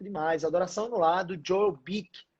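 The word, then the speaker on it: Joel Beeke: Adoração no lar do Joel Bick. Joel, né? Ele se escreve dessa forma. Joel Bick. B-E-E-K-E.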